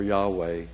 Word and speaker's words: Yahweh: let us know but Yahweh is the popular pronunciation the second word Jasha